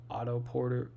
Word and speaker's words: Otto Porter: Um, I was saying this whole year that losing Otto Porter, Auto Porter, yeah, that's how you say it.